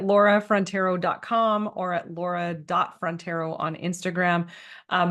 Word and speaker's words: Frontiero: frontero on Instagram um my last name is spelled like the great Frontier with an O on the end I've been saying that